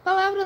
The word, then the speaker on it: palavra: Palavra não tem acento algum gráfico, mas tem a sílaba tônica, a sílaba forte, que no caso é a lá, porque ó, palavra.